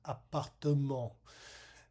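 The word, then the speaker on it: appartement: Um and in French uh we have that e there which is a schwah but is not reduced and it does create a fourth syllable. So it is apartum.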